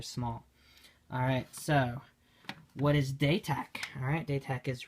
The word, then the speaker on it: Datach: So, sorry, Datach, right, is the way to pronounce it.